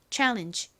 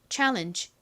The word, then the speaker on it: challenge: 실제 미국식 원어 발음으로는이 G가 이렇게 끝부분에 오면 바람 빠지는 소리가 나요. 이렇게요. 자,이 단어를 원어 발음으로 읽어 보면 challenge가 됩니다. challenge 따라해 보세요. challenge.